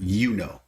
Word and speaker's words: Yuno: It's based on Juno, but they named the character Yuno because the I is like silent.